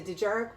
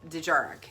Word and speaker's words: Dejarik: Dejarik, I believe is the correct pronunciation for it.